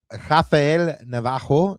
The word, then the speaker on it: Rafael Navarro: Rafael Rafael Navarro, did I say it right this time, Ananda?